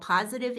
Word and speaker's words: Pawsitive: Also, I have a new Substack newsletter that is called Positive Impact, and that's spelled PAWSITIVE, Positive Impact.